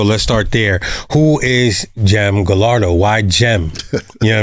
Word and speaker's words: Gem: So, but it's spelled with a J. Yeah. I put the G in front of it because it just looks better, right?